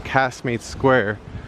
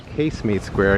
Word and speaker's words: Casemate Square: It says that it's in Casmate Square. Sorry, Casemate Square. I keep uh pronouncing it wrong.